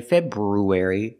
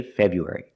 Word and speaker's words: February: So remember, don't say February, say February.